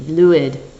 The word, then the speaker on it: Lwyd: The Merry Lwyd, or Lwyd. Excuse me, Lwyd.